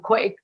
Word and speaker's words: Quay: We have a wonderful story about the, I'm going to say it wrong, Quay Co-op in Cork. Is it Key? Key Co-op? Oh, QUAY, is it? Co-op, right? Yeah. Key Co-op, yeah.